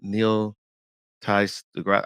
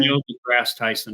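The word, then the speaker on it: Neil deGrasse Tyson: love is uh what is this is it Neil Ty the grass I always mess his name up what's his name how do you say his name Neil the grass Tyson yeah thank you thank you Keith and and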